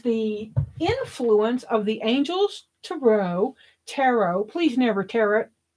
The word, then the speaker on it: tarot: So, but that was the influence of the Angels Tarot. Please never tarot. It doesn't rhyme with carrot. It's a French word.